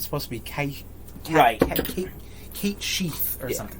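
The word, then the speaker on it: Cait Sith: You're Cat Sith for now on. Apparently you pronounce that Cat She? I Like, because it's Gaelic or something like that. Like, it's supposed to be Kate Sheath or something like that.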